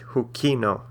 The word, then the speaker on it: hukino: And if we have a longer word like hukino, the second to last syllable is the ki part, so it's hukino.